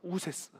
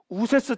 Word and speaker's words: 우세스: 그러면 모세 할 때 새는 원래 애굽식 발음으로는 새가 아니에요 그게 뭐냐면 우세스입니다 우세스 우세스 뜻이 뭘까요 옛날 모세